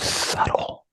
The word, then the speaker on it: subtle: really is so subtle the B is silent and the word subtle Sub Sub Sub sub